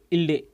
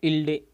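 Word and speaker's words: ईळे: तो अग्नि मिल्डे इल्डे, इसका दू स्पष्ट है, इसका उच्चारण भी इसी प्रकार से किया जाता है, इल्डे इल्डे इल्डे।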